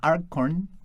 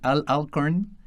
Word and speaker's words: Alcorn: dinero por lo que le encargó a Al Arcorn. Ay, perdón, la la pronunciación todavía me cuesta trabajo. No, aparte está rarillo el nombre Arcorn. Sí, Alcorn que programara lo que ahora se conoce como PK.